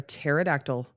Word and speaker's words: pterodactyl: Why can't you hear a pterodactyl in the bathroom? Because the P is silent.